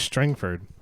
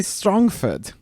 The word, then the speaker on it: Strangford: it it's me billy strongford can i come out i thought it was strangford strong fed it is spelled strangford but i see strongford nice double back thank